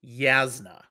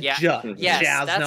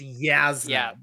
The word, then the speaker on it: Jasnah: So that people don't come at you, it is definitely Jasnah. I said Jasnah all the time, but it's Jasnah from Brandon Sanderson.